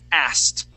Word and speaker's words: asked: you the K but once you add the Ed on the end that K disappears and we say asked asked okay and we you have to make sure to pronounce that t asked okay now um